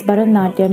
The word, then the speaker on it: Bharatanatyam: This etymology also holds up to scrutiny better since Bharatanatyam is pronounced with the short forms of bha, ra, and ta, whereas each of the bhavam, ragam, and talam contain the long forms.